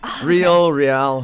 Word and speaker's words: Reihl: You just accepted that people mispronounce your last name that much? Yeah, it's just Reihl, however you want to do it.